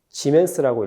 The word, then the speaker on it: 지멘스: 단위는 s 지멘스라고 읽고 간혹 옴의 반대라서 기호를 거꾸로 쓰고 철자도 거꾸로 써서 모라고 읽기도 합니다.